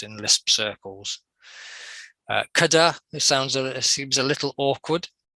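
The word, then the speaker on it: cdr: Kada, it seems a little awkward. Any suggestions? You have it right. Kada? No, just Cutter.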